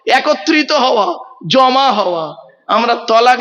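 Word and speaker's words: طلاق: হ্যাঁ, শব্দটা তালাক নয়, শব্দটা কিন্তু তালাক নয়। শুনে নিন, একটু ভুলটা সংশোধন করে নিন। জলসা দেওয়া হয় এ কারণেই বাবা। চলুন, শব্দটা কি? শব্দটা হলো তলাক। কি বললাম? তলাক। বলে আরবি উচ্চারণ কি? তোয়েল আমালিফ কপ। বাংলা উচ্চারণ কি? তয়ে বয় লয়াকার ক।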